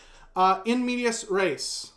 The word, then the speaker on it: in medias res: In medias res. And yes, that is the right way to say that.